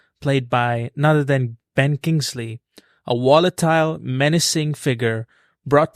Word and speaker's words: Kingsley: liked that and Ben's kingsling is or is that how you say it Kingsley Kingsley yeah yeah I saw his